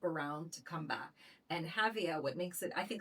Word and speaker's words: Jávea: or words in Spanish, we have that wonderful ja, Javea, and in Valenciano is Xàtiva, right, with an X.